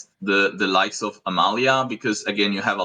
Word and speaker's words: Amalia: pronunciation of cards oh wouldn't that be Amalia yeah good old yeah what did I say you said Amelia like AEL a heart